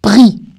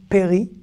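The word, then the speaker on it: פרי: Alors, certains vont dire. Péri, c'est surtout quand on fait la prière sur les fruits, la prière juive sur les fruits. Boré, péri, haetz. Non, ce mot se prononce pri, d'accord ?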